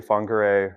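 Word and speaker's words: Whangārei: in New Zealand, wh I believe is pronounced with an F. So I say Fongere, but that's how it's spelled. And I might be mispronouncing that. Um, and the funray district is a bit further north of Auckland.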